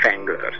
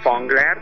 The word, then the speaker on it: Fangler's: A zenekar nevét úgy kell kiejteni, hogy Fenglers. Tehát nem Fangler, hanem Fenglers. Tehát ugye ezt most még